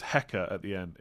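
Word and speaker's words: Van Hecke: go doggy in that case what is worth van heck is pro is pronounced hecka at the end it's Flemish Dutch language and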